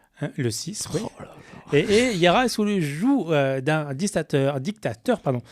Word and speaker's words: joug: Et Yara est sous le joug d'un dictateur. Alors, le joug ou le joug pour Julien, puisqu'il prononce toutes les dernières lettres. Moi, je dis joug.